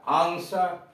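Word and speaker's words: answer: W silent, W आर ओ एन जी, रंग, रंग, गलत, यानी यहां डब्ल्यू साइलेंट है। ए एन एस, डब्ल्यू ए आर, आंसर, Uttar.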